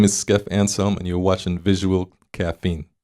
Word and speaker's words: Skeff Anselm: I've just been told we've been pronouncing it wrong this entire time. So just to make the correction to hip hop on note, Skeff Anselm.